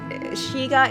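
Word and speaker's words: Skygge: one second so okay so there's a really shiga is how it's pronounced wait until you hear how to spell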